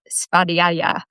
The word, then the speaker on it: svadhyaya: So in Sanskrit, it's called svadhyaya, which is just kind of fun to say.